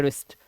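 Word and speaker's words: wrist: देखो रिंकल है ना रिस्ट ऐसा लग रहा है इसको ही रिस्ट पढ़ रहे हैं लेकिन रिस्ट की स्पेलिंग में डब्लू भी होता है रिस्ट ठीक है तो ये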